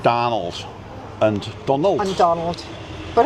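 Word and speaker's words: Dónal: It's like Donald and Donald.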